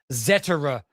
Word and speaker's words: Zetterer: Let's talk about Michael Zetera as I have been corrected on his pronunciation.